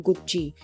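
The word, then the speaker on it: Gucci: duplicate गुची belt मिली गुची एक Italian fashion brand है इसका प्रोनाउंस एशन होता है गुची सो इसको इंग्लिश में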